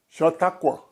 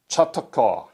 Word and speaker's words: Chautauqua: Chautauqua. Chautauqua. Can you spell it?